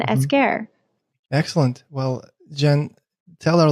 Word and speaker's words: Esquer: Tell the proper pronunciation of your last name for a listener. Esquer. My Instagram handle used to be. So it's Jen Esquer.